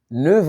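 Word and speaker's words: neuf: à faire et enfin le F se prononce V si tu veux faire la liaison mais attention c'est avec le mot 9 et puis devant deux mots ça heure et puis en par exemple on va dire 9 ans 19h mais après ça toute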